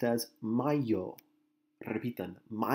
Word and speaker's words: mayo: word is pronounced as my yo try to be done my yo okay this is not Mayo like what you put on your hamburger I hear a lot